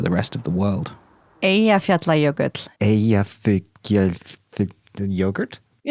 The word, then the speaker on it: Eyjafjallajökull: Eyjafjallajökull. Yogurt? Eyjafjallajökull. It's a double L.